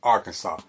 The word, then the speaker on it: Arkansas: Uh Arkansas is pronounced Arkansas.